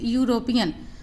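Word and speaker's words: European: Mister David is यूरोपियन, आपको ये ध्यान रखना है EU से जब भी सेंटेंस प्रारंभ होता है, कोई भी शब्द हो तो उसका उच्चारण यू होता है, यानी ई साइलेंट है।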